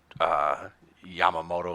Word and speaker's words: Yamamoto: I had to go back and look for it, but I read an article today about how they're having Ohtani really recruit Yamamoto, is that how you say his name?